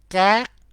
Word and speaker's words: các: And note that uh, in a plural form, you put các, các, các before those. Be careful with this word. You should pronounce correctly. Các, các, các.